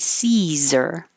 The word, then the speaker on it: Caesar: the building seizure and Caesar so neither of these are spelled like they sound this Z is actually a so if you have